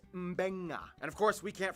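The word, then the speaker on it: Mbengga: And this word is pronounced Mbenga.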